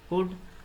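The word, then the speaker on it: could: Wrong, W silent है, night H silent है, high G silent है, डाउट B साइलेंट होगा, कुड L साइलेंट होगा, वाक L साइलेंट होगा।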